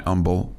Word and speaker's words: Humble: The H is silent.